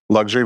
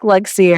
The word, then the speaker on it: Luxury: It looks like Luxier. It looks like Luxier. We're all just Yeah. But it's actually luxury.